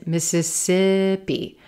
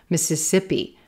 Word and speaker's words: Mississippi: Silver Pin, Mississippi, Mississippi. Yes, our first two syllables, missa, missa, missa, missa, missa, missa, missa, missa, missa, missa, Mississippi, Mississippi, Mississippi.